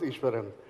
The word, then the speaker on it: Ishwaran: my name is ishwaran and many of them get my last name uh wrong but yeah it's it's pronounced ishwaran um I'm the distinguished